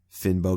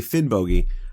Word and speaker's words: Finnbogi: Now, I know when I say Finn Boi, uh, I'm I'm putting too much emphasis on the O in the second syllable, but but I would say that the hard G that I'm using in uh in Finn Boi is is much closer to the Old Norse than the soft Y uh that you find in the modern Icelandic, right?